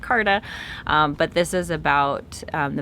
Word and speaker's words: Carta: james dougherty the magna charta i think we normally pronounce it carta but this is about